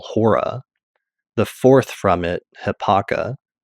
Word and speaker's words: ὥρα: Greek term, which is literally spelled and pronounced the same way, Hora, which is like omega, rho, alpha.